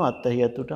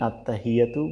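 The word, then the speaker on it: التحيات: সেই জন্য কিন্তু এখানে আত্তাহিয়াতু বলাটাই স্বাভাবিক। এই হায়ের উচ্চারণটা কিন্তু হবে হি, এরকম ফ্যাস ফ্যাস করে একটা শব্দ হবে হি।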